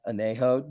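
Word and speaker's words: añejo: wap that's pretty sweet it's pronounced anejo not brown it's actually pronounced rapist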